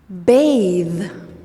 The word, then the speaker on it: bathe: What about the verb bathe? Bathe. The is the last sound of the verb bathe. The is voiced.